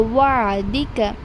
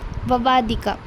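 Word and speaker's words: وعدك: Now this word wa wa'dika you can mistakenly pronounce as vavadika. It is not vavadika. If you are reading vavadika, that means you are dropping ain jazm, that is you have completely removed ain there.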